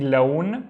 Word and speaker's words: لون: And again, instead of saying لون, we say لون, which means color, لون.